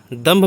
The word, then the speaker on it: दंभ: वह दंभ है और दंभ में हमें क्या उच्चारण हो रहा है म उच्चारण हो रहा है क्यों उच्चारण हो रहा है क्योंकि द के ऊपर बिंदी है और उसके आगे का अक्षर है भ और भ प वर्ग